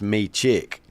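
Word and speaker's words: Mičić: in a trade and he said it's pronounced me chick me chick okay no Ned you are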